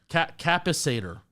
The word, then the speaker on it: capacitor: Capacitor.